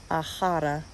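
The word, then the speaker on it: A chara: And the greeting is in Irish Gaelic, and I just looked up how to pronounce it so that I hopefully don't butcher it. Ahara, which means my friend.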